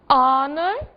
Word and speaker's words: honor: Que palavras são essas? O, honor e honest. Não disse o H em nenhuma delas, certo?